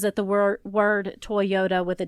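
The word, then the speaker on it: Toyoda: was changed okay but his last name is spelled t o y o d a Toyota like to yeah like toy like Yoda okay uh the name was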